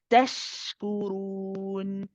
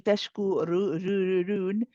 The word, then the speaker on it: تشكرون: The ra here is heavy. So we don't say tashkurun. We say roon, roon. Tashkurun.